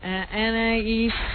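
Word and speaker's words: Anaïs: Is that how you say it? Anais, yeah.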